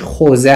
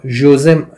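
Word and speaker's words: José: این چیز تلفظ اصلیش خوزه هست. حالا جوزه جوسه ما باید بخونیم، ولی خوزه هست، من خوزه میخونم.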